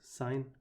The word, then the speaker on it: sin: at the start and sin here is short for sine and that's the reason that I pronounced the sin there as sine cos is short for